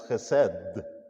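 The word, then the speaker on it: חסד: It's spelled H-E-S-E-D, but it's pronounced as chesed.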